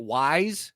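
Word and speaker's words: Weis: if I'm shopping at WISE it's it's pronounced wise folks or giant I'm hearing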